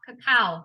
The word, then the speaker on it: cacao: for natural cocoa or cacao cacao that's how you say it cacao powder um and